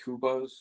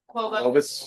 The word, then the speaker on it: Qobuz: Follow us on, how do you say it? Kubos? Quobos. Quobos.